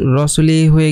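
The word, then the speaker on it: رَسُولِهِ: হয়নি হা এর নিচে এখন যদি আমরা এই এটাকে মুছে দেই এবং এখানে যদি একটা খারা জের ইউজ করি তাহলে এটার উচ্চারণ হয়ে যাবে হচ্ছে রসুলিহি রসুলিহি রাসুলিহি রসুলিহি ঠিক আছে এখানে এক এক আলিফ টেনে পড়তে হবে এখানে কারণ হচ্ছে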